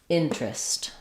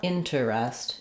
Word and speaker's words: interest: It's not in ter est, it's IN trist. So this is a common pattern we do in English where when we have an eer in the middle that's unstressed, sometimes that syllable just drops and instead of t rest, we just get trist changes to an r blend.